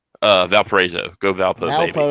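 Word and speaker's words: Valparaiso: How do you pronounce that? Uh, Valparezo.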